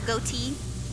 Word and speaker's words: Goht: mechanical monster mountain goat I know some people pronounce his name as got but I I like goat mostly because he looks literally like a goat all right let's go